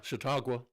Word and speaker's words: Chautauqua: Yeah, Chautauqua.